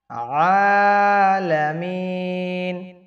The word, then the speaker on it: আলামিন: আলামিন আইনের উচ্চারণ শক্ত করে বলতে হবে। এখানে যদি ভুলটা করেন তাহলে কিন্তু আপনাদের নামাজ হবে না। এখানে বলবেন আলামিন।